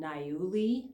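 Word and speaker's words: niaouli: that may be easier to find it's called nauli and that's spelled ni a o UI it's been used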